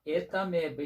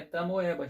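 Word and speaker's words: Entamoeba: No entanto, a Etameba histolítica não é tamoeba, gente. Tem que ter cuidado com a pronúncia dos nomes científicos.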